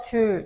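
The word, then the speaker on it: joule: 줄이라고 읽어요. 단위는 오케이. 무조건 줄 줄 줄 줄입니다.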